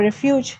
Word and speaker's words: refuge: For refuge, yes? No, refuge. Refuge, okay. First syllable.